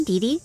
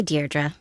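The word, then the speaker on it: Deirdre: Hi, Deei. Dear Dra, I know it's got that tricky second syllable, but I figured it out by age two. Don't give up. You'll get there. Sorry. Hi, Dearra.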